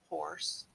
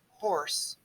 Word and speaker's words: hoarse: h-o-r-s-e is the animal horse but here we have the spelling horse h-o-a-r-s-e horse horse we pronounce them the same horse horse but in